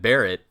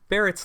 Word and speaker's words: Barret: you guys know that Barrett his name is because it sounds like bullet if you pronounce it with Japanese phonetics I did not know